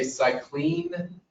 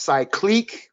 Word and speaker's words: Cycliq: great idea um did you did you say cyclin it's pronounced cyclique with a q at the end c-y-c-l-i-q-u-e uh